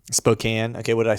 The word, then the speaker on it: Spokane: similar yeah to where you're at yeah it's pronounced spokane spokane okay what did i say spokane yeah spokane